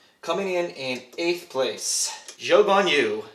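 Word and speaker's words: Zhou Guanyu: in in eighth place joe von you so that is the proper way to say his name according to the broadcasts and i what a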